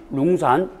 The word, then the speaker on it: 룽산: 오탈자 아니고 그냥 중국식 발음이 룽산, 룽 이렇게 읽으니까요.